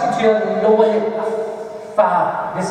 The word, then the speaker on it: ف: Fa. This is how I pronounce it.